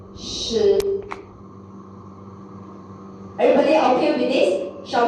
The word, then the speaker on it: 食: And next is a 食, which you can use the word like sheep. 食.